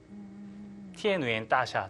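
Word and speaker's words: 天元大厦: 우리나라로 치면 티엔위엔 따샤 중국 발음으로.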